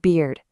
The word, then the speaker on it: beard: Imagine a weird beard.